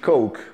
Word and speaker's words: coke: the bartender : « Can I have a cock, please ?